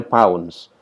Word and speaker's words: lbs: dengan pylons biasanya simbolnya tulisannya LBS lips lips ya Tapi bacanya pounds 21 paunch itu sekitar